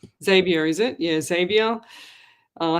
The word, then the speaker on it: Xavier: Um the abandoned and haunted team with Simone, Chad, Zavia, I think that's how you pronounce it. Theresa and John, they were there as well. Xavier. Xavier, is it? Yeah, Xavier.